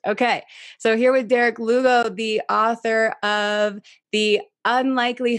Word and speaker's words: Lugo: name by the way oh yes rhymes with uh hugo perfect okay so here with derek lugo the author of the